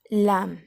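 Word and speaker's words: lamb: लैम, बी दिख रहा है लेकिन साइलेंट करेंगे बोलते वक्त.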